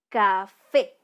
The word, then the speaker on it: café: ejemplo tenemos la palabra café ya tenemos la palabra café la sílaba tónica de esta palabra es fe ya porque